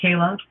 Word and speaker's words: Kaile: K A I L E is how you spell it and it's pronounced Kayla.